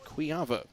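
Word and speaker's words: Kujawa: Nine Kills for quava it's not spelled it doesn't it's not it doesn't sound like it's spelled we just say it that way KU J AWA but it's quava kovar in the serve Boyd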